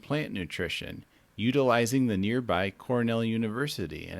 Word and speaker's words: Cornell: It's pronounced Cornell.